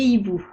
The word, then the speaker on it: hiboux: amis des loups des hiboux noter que hibou à deux lettres muettes le h et le x les verbes à la